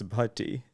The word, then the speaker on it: Bhatty: Yeah, last name's a little bit harder. So it's Bhatty. It's a Pakistani pronunciation, but we're not going to try that.